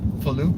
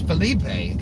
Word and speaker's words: Felipe: what's this guy doing pronouncing my name felupe it's felipe come on so good